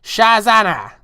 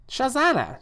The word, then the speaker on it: Shazana: sex with a PS my name is pronounced shazana shazana Shaz hello shazana how